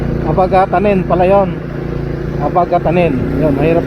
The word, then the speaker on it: Abagatanen: Abagatanen beach resort. So mali yung binibigkas natin kanina mga kalagalag. Abagatanen pala yon.